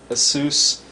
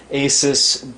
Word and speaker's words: ASUS: bios american megatrends incorporated a sous or asus getting used to the new way they pronounce it asus p8p67 deluxe acpi BIOS